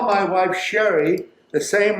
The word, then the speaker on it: Sheree: wife Sherry the same way I call Sherry. I don't say Cherie. Cherie came after, and she agreed to it, so that's her business. When I started teaching, people would see my name spelled like that, and they would just call me Cherie. So that's how I became known as Cherie with my professional. But my family called me Sherry.